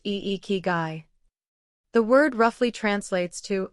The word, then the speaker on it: ikigai: Ikigai, pronounced iikigai.